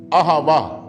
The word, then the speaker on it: अहवा: मांगता हूं वो है अहवा। ये अहवा सुनने में बिल्कुल ऐसा लगता है जैसे यहोवा हम कहते हैं। उच्चारण करीब करीब एक सा है और दोनों का जो मतलब है वो भी करीब करीब एक सा है।